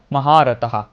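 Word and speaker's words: মহারথঃ: এখানে বিসর্গ থাকায় আমরা শ্লোকের একটা লাইনের শেষে যদি বিসর্গ থাকে তাহলে সেই বিসর্গের পরিবর্তিতে হতা উচ্চারণ হয় এবং সেই হয়ের মৃদু উচ্চারণ হবে, তাহলে আমরা বলবো মহারথः।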